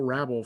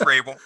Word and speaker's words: Rabel: I guess I should have actually asked you if I pronounced your last name correctly. You didn't. It's Rabel.